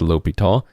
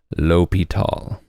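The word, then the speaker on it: L'Hôpital: Hospital though that is not his name it's l'hopital uh many times you will see this misspelled with a uh just an O and no s they do that to get people to hopefully pronounce it more correctly but actually the spelling does look like Hospital uh but it is lopital all right so suppose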